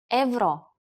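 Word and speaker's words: евро: join the Euro Zone in Bulgarian euro is pronounced Evo you should ask your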